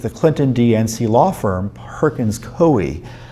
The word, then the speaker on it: Coie: And specifically, we're asking for records of FBI meetings with the Clinton-DNC law firm Perkins Coie, or Coie, it's an odd name, it's spelled C-O-I-E, in 2016.